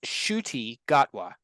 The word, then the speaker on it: Ncuti Gatwa: think he's Scottish randan actor uh it's it's pronounced shuy gatwa so and he is our official 15th uh